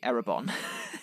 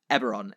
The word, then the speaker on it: Eberron: I always say... No, Aberon is right. I used to say Erebon.